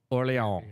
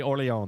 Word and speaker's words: Orleans: Mitchell actually looked up the official pronunciation of Orleans. Here we go. Orleans. So yeah, it is definitely Orleans.